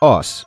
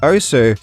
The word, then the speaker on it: osu!: name of the game the official pronunciation is oos as confirmed by the developer but for this video I'm going to call it OSU simply because it stands